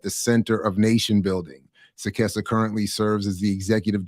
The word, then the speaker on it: Sekesa: And first of all, let me make sure I'm pronouncing your name correctly. Sekesa. Sekesa.